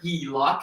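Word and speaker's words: HELOC: line of credit or if you want to sound a little smarter he lock if you will h-e-l-o-c it's really just how we pronounce the acronym basically home equity line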